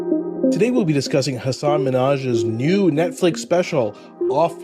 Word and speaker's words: Hasan: First of all, it's Hasan. You're mispronouncing it.